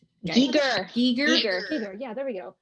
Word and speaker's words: Giger: Giger, is that how you pronounce his name? Geiger. Giger.